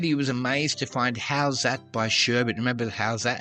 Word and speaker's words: Howzat: For overseas listeners that may not know that song, check out How's That? That's spelled Howzat.